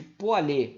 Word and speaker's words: Pouillet: Tem, é a lei de Poilet, ou lei de Ohm-Poilet. Se escreve Poilet, mas se fala Poilet, tá?